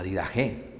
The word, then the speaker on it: Didaché: sumamente interesante importantísimo la vida je bueno se escribe la didaché pero se pronuncia la vida o dicho de otra